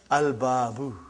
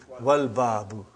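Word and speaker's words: الباب: I did pronounce Lam. But if the next letter is Ba. And it is written here, Al-Babu. Are you with me? Put waw in front, you will say, Wal-Babu.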